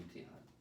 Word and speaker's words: Emtahen: Emtahen. How would you spell it in English?